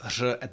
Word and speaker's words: řada: Uh start with the words that have R at the beginning because you can get your mouth